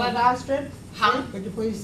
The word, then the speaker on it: Astrid: something, and she pronounced it Astrid. Yeah, but in Norway they say Astrid. Astrid, and they don't say the D on the end.